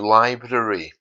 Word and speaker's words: library: this word Library um some people do give it the hardar library because it's almost impossible when you have two RS in a word to avoid both of them so you know